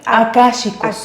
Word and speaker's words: Akáshicos: ¿Cómo se dice? Akáshicos.